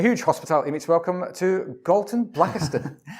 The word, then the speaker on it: Galton Blackiston: And a huge Hospitality Meets welcome to Galton Blackiston. You got it right. You pronounced the name right. Is that right? Yeah, most people don't.